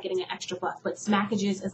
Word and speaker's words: Smackages: is spelled www dot s-m-a-c-k-a-g-e-s dot com smackages like smacking on your gum and packages like take off the p-a-c-k and have the a-g-e-s at the end smackages it's a sister it's